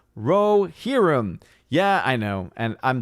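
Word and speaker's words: Rohirrim: about that orange i review says odin it's pronounced rohirum yeah i know and i'm terrible at pronouncing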